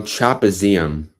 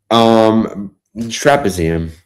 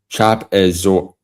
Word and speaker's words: trapezium: How do you say it? Trapezoid. No, not trapezoid. No, not trapezoid. Trapezium. How to pronounce it? Hold on. Trapezium? Is it trapezium? So it's trapezium and not trapezium.